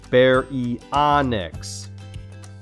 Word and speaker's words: Baryonyx: thin teeth large thumb claw say my name bear e onyx c is for coelophysis i am small and